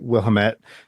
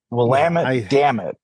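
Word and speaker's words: Willamette: to say it right Wilt Valley in Oregon um there's an H in there somewhere that I always it's actually lit will lit damn it that's how you remember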